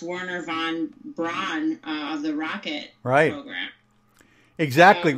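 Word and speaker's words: Wernher von Braun: The most famous was, I think it's pronounced Werner von Braun of the rocket program.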